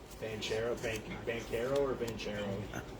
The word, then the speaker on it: Banchero: guy paulo yeah he's good how do you pronounce his last name banchero thank you vanquiero or vincero he's good he